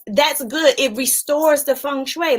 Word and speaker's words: feng shui: it either laughs yeah feng shui here's how you spell it look f-e-n-g-s-h-u-i it does not spell like you say it at all and who's that Kimberly